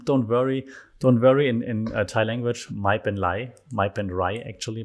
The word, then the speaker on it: mai pen rai: mai pen rai actually, but they don't really pronounce the R in Thailand. So that everything with an R becomes like kind of an L when they hurry, when they don't pronounce it correctly. So mai pen lai is like, don't worry, don't sweat it.